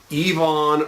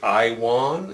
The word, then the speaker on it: Iwan: from yvonne reese and a lot of folks say i won it's iwan but the true story is this is uh the gentleman is of german descent and germans pronounce their wubble use as v's so uh yvonne sounds like yvonne or like volkswagen volkswagen